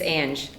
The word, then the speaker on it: Big Ang: You're pronouncing it wrong. It's Ange.